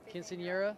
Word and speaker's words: Quinceañera: Quinceañera?